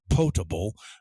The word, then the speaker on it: potable: It looks like it has the word pot in it, la olla, but it's pronounced potable. You can make water potable by boiling it even